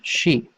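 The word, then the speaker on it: し: it down here stop okay the next one she now Japanese doesn't have a C sound as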